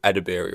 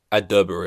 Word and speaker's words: Edebiri: You would read the name right, and you'd think it's Ao Edebiri, right? I'm pretty sure most people would pronounce it like that when they read it. I heard her say in an interview like immediately after I said it, like on the interweb, and she pronounced it Ao Adderbury or something, and I was just